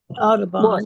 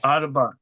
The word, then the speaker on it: Audubon: Audubon, yes, you did. Yes. Audubon.